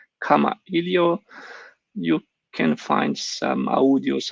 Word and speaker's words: Kamailio: would be this ekamailio in hawaiian language it's with an apostrophe making it phonetic so pronouncing it like comma helio you can find some